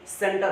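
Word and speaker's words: center: तो ऐसा नहीं कि इसको आप कैंटर पढ़ रहे, ये कैंटर नहीं है, सेंटर है। सी को सा क्यों प्रोनाउंसिएट किया जा रहा है? क्योंकि सी के बाद ई आया है।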